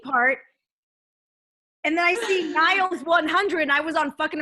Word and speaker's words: Niles: minutes to explain why you got this man's name wrong? NIG, and then under it is Niles. So Niles.